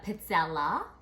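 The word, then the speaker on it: pizzella: it's a Italian waffle cookie and it's actually pronounced pizza all right singular would be a pizza la these things can be um heart or crisp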